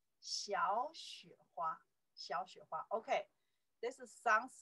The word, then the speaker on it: 小: That's a character, pronounce 小, by itself, little.